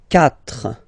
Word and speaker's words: quatre: Quatre. Quatre. Okay? So remember that even if you get this u vowel here, basically you don't pronounce it, because that's the rule in French.